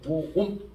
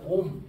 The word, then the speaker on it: 옴: 다니는 문어머리 오이라고 읽죠 오옴 얘를 읽을 때는 오옴 줄여 가지고 그냥 옴 이렇게 읽어 읽어도 돼요 근데 읽는